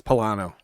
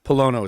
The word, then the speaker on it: Pollono: appreciate it most people from new england is pilano but polono is the correct pronunciation now luke said dude you gotta watch